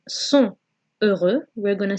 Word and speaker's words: sont heureux: Okay, so in that case, the T from sont has to be pronounced. So instead of saying sont heureux, we're going to say sont heureux, heureux.